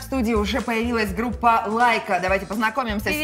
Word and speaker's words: ЛАЙК.А: Несмотря на то, что вы называетесь Лайка, пишется через like.a. И я сначала вообще прочитал как like a.